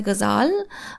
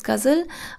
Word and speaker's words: ghazal: Now, ghazal style of poetry in Irani poetry, it's pronounced something as a ghazal, but in South Asia, it's pronounced as ghazal.